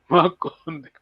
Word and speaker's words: Makondekwa: by Professor Ezel Carter and the Reverend João Makondekwa. Ok, Makondekwa. Maconde, João. quoi. Ele sempre diz, ele, já sabe, né? Ele é professor, grande professor de Kikongo. Ele sempre diz, meu nome, a pronúncia é assim, Maconde.